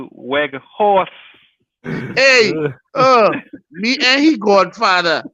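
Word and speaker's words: Weghorst: It's not Wang House Jet. Pronounces is Weg Horse.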